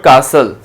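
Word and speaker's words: castle: Next हमारे पास आ रहा है एट्थ में है हमारे पास वर्ड कासल, तो कासल में हम किसको जो है वो इनसर्कल करेंगे, हम सर्कल करेंगे T को।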